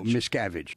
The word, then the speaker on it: Miscavige: What's the correct pronunciation? It's Cavage? Miscavige? No, Miscavige.